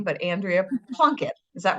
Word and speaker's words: Plunkett: sing a gramam as your name but Andrea plunket is that right did I pronounce that right yeah and I always love